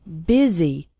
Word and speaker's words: busy: The word busy is pronounced with an I sound, busy.